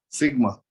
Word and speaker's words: sigma: Sir, in red, what you had circle, what we pronounce it? Sigma, surface charge density.